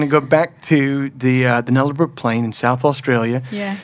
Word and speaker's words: Nullarbor: Will you take me back to, is it pronounced the Nullarbor? Playing? The Nullarbor. The Nullarbor playing. Yeah, but you can say however you want. I like it with your accent.